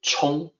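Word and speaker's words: 沖: explain why that is first the character is pronounced Chong there's a meaning this is a common character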